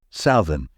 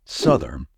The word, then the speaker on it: southern: It might be tempting to say southern, since the first part of the word is pronounced as south. However, the correct way to say this word is southern.